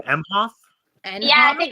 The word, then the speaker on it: Emhoff: Emhoff. And Yeah, I think it's Imhoff.